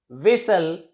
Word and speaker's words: whistle: We can say that T is silent before LE at the end of a word. Nestle, whistle, hustle.